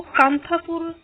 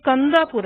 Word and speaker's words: Kanthapura: South India में actually इसकी pronunciation इस प्रकार से होती है कि कंदापुर है, लेकिन हमें फर्क नहीं पड़ता प्रोनाउंसिएशन से, क्योंकि एग्जाम में लिखने के मार्क्स आएंगे आपके। सो इट्स ओके, अगर आपको पता है ठीक है, उस लेवल तक बात की। वरना कांथापुर कहना भी सही है, फर्क नहीं पड़ता इस बात से।